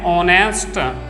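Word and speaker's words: honest: एन एयर उत्तराधिकारी के लिए वर्ड यूज किया जाता है, तो एच साइलेंट है यहाँ पर। एन ऑनरेबल, एन ऑनेस्ट, ठीक है, एच एन ऑनेस्ट।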